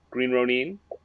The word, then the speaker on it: Green Ronin: How did you pronounce that? Green Ronin.